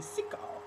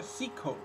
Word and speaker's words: Sicko: Voi direte, Sicko? No, si pronuncia Sicko.